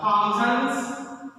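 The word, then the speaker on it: Thomson: थॉमसन्स, actually it is pronounced as थॉमसन.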